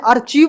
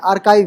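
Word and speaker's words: archive: ठीक है वैसे ही आर्काइव इसे पहले अचीव पढ़ा करते थे याद है तो जब स्टार्टिंग में फोन चलाया होगा तो अचीव पढ़ते थे लेकिन आर्काइव है कयो कयो कैरेक्टर क्रिस्मस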